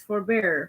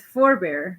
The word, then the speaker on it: forbear: Don't confuse forbear, which is a verb in which the accent falls on the second syllable, with forbear, which is a noun and the accent falls on both syllables.